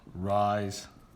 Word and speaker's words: Reye: then we're going to talk about something called rise syndrome okay so let's go ahead and get started and yes that's rise it's pronounced rise it's by a Denmark Danish doctor so breakthrough